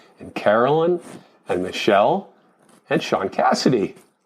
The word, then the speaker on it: Shaun Cassidy: Carolyn and Michelle and Sean Cassidy, which is not one word, but they say it like one word.